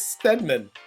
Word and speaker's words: Stedman: It's Stedman. It's not, he's not an NFL player. I thought I said his name wrong.